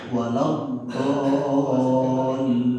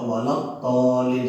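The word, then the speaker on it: وَلَا الضَّالِّينَ: Walau dolin. Nah itu walau dolin itu mad lazim mutsaqqal kalim. Harus seperti itu bacanya gitu. Jangan apalagi walau to pakai to, walau tolin salah jelaskan. Do itu berat.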